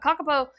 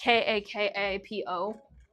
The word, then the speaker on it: Kakapo: It's Maori, so it's like Kakapo.